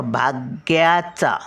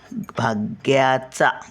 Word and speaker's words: भाग्य: याचा पूर्ण उच्चार आता भाग्याचा भाग्य भाग्याचा भाग भाग्याचा भाग्य लिहूया चला भाग्य ग भाग य नाही भाग्य ग आणि य चा उच्चारतो ग चाचा थोडा उच्चारण य मग काना काढायचा नाही